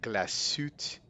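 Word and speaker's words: Glashütte: Glassute.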